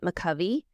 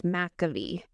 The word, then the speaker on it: McCovey: I looked up, so Amy from the San Francisco Giants, because I was pronouncing it McCovey. So I had to watch one of Amy's videos because she promotes them, and she says it's McAvee.